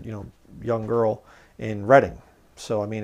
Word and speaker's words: Reading: It's not Reading. It's spelled like Reading, but it's pronounced Reading if you're from the area.